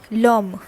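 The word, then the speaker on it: l'homme: is the difference here what is the thing that i want you to notice over here is that this h is not being pronounced here okay so the next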